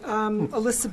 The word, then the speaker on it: Alyssa: Hi, Alyssa, Trotwood Drive. Alyssa, I apologize. I mispronounced your name.